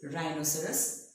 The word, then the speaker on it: rhinoceros: Reiser's rhythm romantic so the H is silent in browsers we don't see triangle service or rhythm we see rhinoceros rhythm the next one